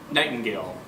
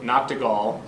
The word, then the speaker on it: Nachtigall: Sure, it's Nightingale. Like Earl Nightingale? Nightingale? So pretty much, yes. Oh, it's spelled Nachtigall. Yep. So if and linguists would get mad at this, and they have before. It's German, so Nachtigall, so it means night bird, which literally translates to nightingale.